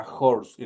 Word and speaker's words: horse: de la oración, horse es una H aspirada y por lo tanto es como que ahí estuviera una J. Entonces digo a horse.